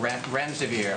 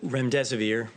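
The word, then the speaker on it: remdesivir: wanted to ask out rent rent severe I don't pronounce that correctly can you tell say it currently approved for use on the virus so REM des aveer and it's a drug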